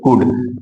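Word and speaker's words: could: जैसे देखिए यहां पर यल डी, देखो यल के बाद डी आ गया तो हमारा एल साइलेंट हो जाएगा, तो इसको सी ओ यू डी यानी कुड बोलेंगे। क्या बोलेंगे, कुड। यहां यल के बाद क्या आ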